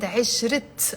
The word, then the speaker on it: عشرة: I didn't say عشرة, I said عشرت. I'm pronouncing the T مربوطة. Why? Because there is a noun after it.